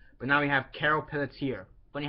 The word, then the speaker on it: Peletier: So yeah, at number 3 we have Carol Peletier, I believe is how you say her last name.